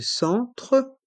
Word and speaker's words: centre: Centre, les lettres E et N font le son en.